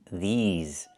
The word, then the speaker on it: these: I need the long e like green beans. These plus the zz sound like in zebra and zipper. These these words. Not this words but these words.